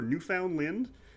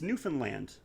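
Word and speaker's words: Newfoundland: ever says it right everyone always says newfinland or New Found Lind it's newfinland uh no one's going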